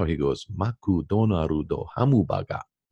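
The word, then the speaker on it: マクドナルド: He goes, maku donaru do hamubaga. Everything has to have a syllable. Ah. And the syllable must end in a vowel.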